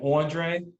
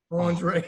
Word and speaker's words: André: i need you to put the e the accent on the e because it because it it affects the pronunciations andre you know i love what somebody say right or i love when like a girl especially from like brooklyn call me andre andre i love that i'm